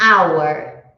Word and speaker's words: hour: gente tem alguns exemplos an hour an hour Teoricamente se a gente for seguir a regra da consoante da vogal não faria sentido ser an seria a hour só que our